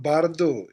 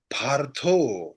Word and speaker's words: bardo: It's not bardo, it's partho, soft par.